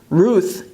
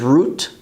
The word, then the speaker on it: רות: Ruth is Rut, Rut.